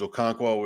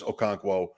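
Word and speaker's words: Okonkwo: get out Spears maybe does a couple things okono is okono uh that's how you say it by the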